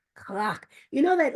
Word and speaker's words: crack: So we're saying clock like crack, except clock, right? So it's spelled crack, C-R-A-C-K, but it's pronounced clock, clock.